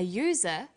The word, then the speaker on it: user: an umbrella but a user because user sounds like it begins with a y a and an are